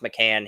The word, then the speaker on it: McCain: love do basketball but Jared McCain pronounced mccan he's not that good